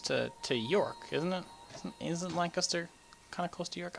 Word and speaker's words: Lancaster: Just like in England, Lancaster. It's pronounced Lancaster, not Lancaster. Lancaster. Pronounce it right.